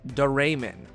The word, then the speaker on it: Doraemon: in the english of history episode it is pronounced deramin worth saying too is the tape has it